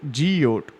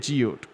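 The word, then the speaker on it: geode: ஜியோடுங்கிறத எப்படி ப்ரொனவுன்ஸ் பண்ணுவோம்? ஜியோட். சரியா? ஜியோட். அடுத்த கஷ்டமான சின்னம்ஸ் இருக்குது.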